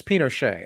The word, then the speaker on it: Pinochet: that's fine pinot pinochet pinochet that's right it's pinochet okay see see juan cholo got it for